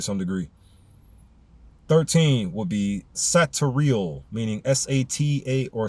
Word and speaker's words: Satariel: 13 would be Satariel, meaning S-A-T-A, or spelled S-A-T-A-R-I-E-L.